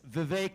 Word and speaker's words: Vivek: name is Vivek ramaswamy it's Vivek it rhymes with cake as some of you